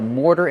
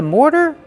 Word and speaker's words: mortar: More plus the fast D.